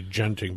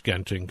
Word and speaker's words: Genting: I always thought it was Genting, but then Yes, I talked to people from Genting. and it's actually Genting. Genting. Yes, I corrected myself, but they pronounce it Genting, so they work there. So I'm going to pronounce it Genting. I still want to say Genting because it's just habit, but it's wrong. It's Genting.